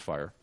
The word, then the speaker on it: FHIR: is the definition from the fire specification uh spelled fhir pronounced fire um and if you